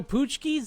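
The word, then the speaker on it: pączki: So, Poochkis.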